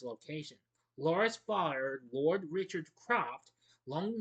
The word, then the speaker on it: Lara: First, Lara shows Powell, I'm sorry, I keep pronouncing Laura instead of Lara.